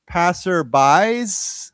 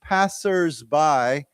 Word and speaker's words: passersby: I thought is it passerbys with an S or is it passerby as if it's one person, but but the way they write it is with an S there. So, it's passersby, okay?